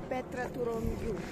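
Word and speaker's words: Petra tou Romiou: Petra Turomiu. How do you say it? Petra Turomiu.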